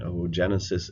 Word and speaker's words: oogenesis: The technical word for the egg is the ovum, so we will use a double O, which is actually pronounced like a long O. So ooblast would be the embryonic egg cell, and oogenesis is the formation of an egg cell.